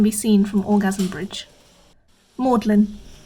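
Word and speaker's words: Magdalene: seen from orgasm bridge maudlin included solely for the reason that everyone pronounces its name wrong when they first come here keys short for gone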